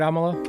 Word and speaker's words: Amala: what's her name again Amala I remembered because it it rhymes with Kamala right Amala and people who are